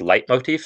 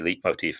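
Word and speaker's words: leitmotif: these things are called i guess light motif if i'm pronouncing it right because i think it's l-e-i-t in german that's light right light motif um i think a lot of people say leap motif but i think that's wrong so um it's an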